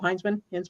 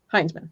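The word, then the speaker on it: Hinzman: Bill Hinsman? I never know if I'm pronouncing it correctly. Heinzman.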